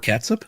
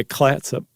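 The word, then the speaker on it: Clatsop: And Fort Catsup, that's what I thought, too. But it's it's close. There's a L in there. Um, yeah, Clatsup.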